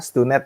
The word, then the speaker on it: STUNED: Tapi ternyata tadi yang benar adalah Stunet ya. Nah, jadi teman-teman semua kalau mau ngomong tentang Stunet ya udah benar tuh. Stunet itu bahasanya, pronunciasi sudah benar.